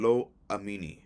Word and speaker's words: Lo-Ammi: Lo Ruama spelled Lo-Ruhamah, and Lo Amini, meaning not my people. And Lo Amini is spelled Lo-Ammi.